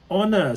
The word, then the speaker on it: honor: exactly absolutely yeah because although you write H at the beginning it's it's honor so you it's a sound that is the most important thing it's not the the letter it's the sound so how it sounds